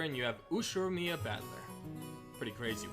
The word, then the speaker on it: Battler: plausible the problem is my own name beep is made up of the characters for fight in person it's pronounced battler put it all together and you have us Mia batler pretty crazy right it's